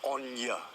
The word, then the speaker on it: on your: On your bike, leave me alone. And the pronunciation is on ya, not on you, on ya.